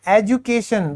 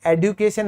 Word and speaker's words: education: फिर है शिक्षा, शिक्षा को हम कहते हैं एजुकेशन। दोस्तों यहां पर ये जो डी है, कई लोग आजकल इसे एडुकेशन एडुकेशन बोलने लगे हैं, मैं आपको बता दूं ये ओल्ड इंग्लिश है।